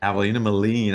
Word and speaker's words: Avalina Maline: Um, it's, you know, Avalina Molen. Is it Molen? Is that correct? That's correct. Avalina Molen. I want to make sure I pronounce it correctly.